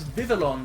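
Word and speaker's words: Vivillon: it is Vivian and I always pronounce that as vivalon because it's got two L's in it I don't trust the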